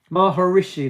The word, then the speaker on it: Maharishi: Maharishi, that's how you say it.